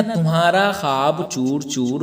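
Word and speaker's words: خواب: तो इसमें देखिए ख्वाब ख्वाब में अगर आप पढ़ेंगे तो खे अलिफ जबर खा बे मूफ इस तरह से लगेगा या वा साइलेंट है यहां पर तो उसे हम क्या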